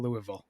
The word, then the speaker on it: Louisville: I I like I hate the city of Louisville oh the way they make you say you get there it's pronounced Louisville ohis Louisville godamn it um before